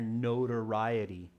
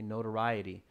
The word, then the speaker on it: notoriety: so when i say this absolutely copy my pronunciation it's a tricky one here notoriety okay notoriety anybody know what that means that word it